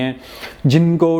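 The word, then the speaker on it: José: ही वॉज होजे सिल्वा। जे के ऊपर dot dash type आती है जो हे की साउंड प्रोनाउंस करती है।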